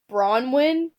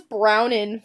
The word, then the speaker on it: Bronwyn: Bronwyn? I thought it was Brownin for a second, but that's not right.